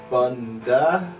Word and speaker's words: A'bunadh: We got the Aberlour Abunada? Abunada? Let's let the jester do this one. Yo, pronounce that for the audience. Abunda.